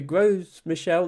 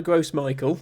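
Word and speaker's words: Gros Michel: so the yeah the the gross Michelle not not the gross Michael although that's how it's spelled uh was widely eaten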